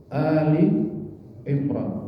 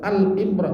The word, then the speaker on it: Ali Imran: Ini bacanya jangan salah Pak. Ada yang baca Al Imran, ini bukan ya. Bukan surah Al-Baqarah, Al-Furqan, bukan. Ini alif lam ini bukan dalam ta'rif, tapi al artinya keluarga. Seperti wa ala alihi, kalau